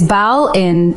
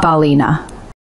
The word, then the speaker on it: Ballina: And now, this week's more frustrating foreign Irish pronunciation, cock-ups. First up, Sligo is Sligo, not Sligo. Next one is Bal in not Ballina.